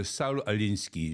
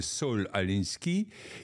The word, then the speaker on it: Saul Alinsky: Il s'agit de Saul Alinsky, je le prononce à l'anglaise, en français ça donnerait Saul Alinsky, qui a écrit une